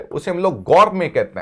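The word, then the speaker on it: gourmet: there is a word गर मेे T silent रहता है इसमें look at the word the word इ गोरमे गौर में टी साइलेंट है इसमें टी क्या है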